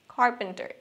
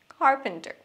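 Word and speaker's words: carpenter: তারপর কাঠমিস্ত্রি, কার্পেন্টার, হালকা করে খ সাউন্ড, কার্পেন্টার, কার্পেন্টার।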